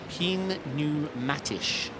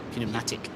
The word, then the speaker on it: Pneumatisch: Pneumatisch. oh, is it? What have I been saying? You've been saying Pneumatic. pneumatic. I've been saying pneumatic. I just thought the P was silent.